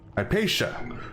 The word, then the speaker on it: Hypatia: Hypatia.